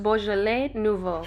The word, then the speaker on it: Beaujolais nouveau: is my first time using this wine it's pronounced beaujolais nouveau i'm excited because i never cooked with that